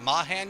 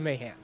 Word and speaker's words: Mahan: for woody is it mahan you said it was mayhem mayhem mayhem according to woody himself it is mayhem mayhem all right hey